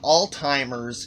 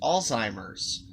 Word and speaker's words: Alzheimer's: that he has alzheimer's not all timers it's pronounced alzheimer's okay and then in